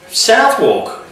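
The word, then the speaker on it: Southwark: get this bit right southwalk or you pronounce that South South they don't pronounce the W's I don't think in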